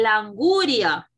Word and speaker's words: anguria: Allora, quando sta la L con l'apostrofo, la La pronuncia sarebbe l'anguria.